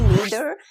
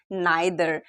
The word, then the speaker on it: neither: एक बात क्लियर कर दूं कि नीदर और नाइदर दोनों एक ही वर्ड है। बस फर्क इतना है कि नीदर जो प्रोनाउंसिएशन है वो किया जाता है अमेरिकन एक्सेंट में और ब्रिटिश एक्सेंट में इसको बोला जाता है नाइदर।